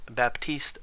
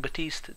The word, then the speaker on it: Baptiste: Michael Chu's reply was Baptist pronounces the P so if you're wondering why I went from saying batist to baptist that would